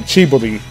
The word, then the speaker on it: Chibodi: That's how they say it. It's for some reason, when I watch the series, they say it so fast it sounds like Jiminy Crockett, but it's more like Chibodi, you know, Chibodi Crockett.